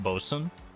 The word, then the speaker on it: boatswain: Isn't boatswain pronounced bosun?